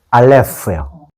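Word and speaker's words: אלף: 이렇게 하면 RF예요.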